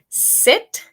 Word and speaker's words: sit: Try saying sit, sit, como sentarse, and seat, seat, como silla.